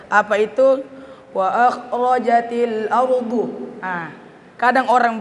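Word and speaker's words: الأرض: Nah, bedakan huruf dal dengan huruf dha. Huruf dha itu bagaimanapun kondisinya, maupun dia berbaris atas, berbaris bawah, berbaris lemah, tetap tebal cara pengucapannya.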